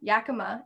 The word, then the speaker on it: Yakima: i'm so sorry count um yeah the yakima yakima and kittetas did i say it right you